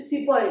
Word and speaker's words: sepoy: वहीं जो सिपॉय थे, सिपॉय कौन थे? सिपाही। ठीक है, उनको सिपाही बोलना तो नहीं आ रहा था ऑब्वियसली, तो दे प्रोनाउंस लाइक अ सिपॉय।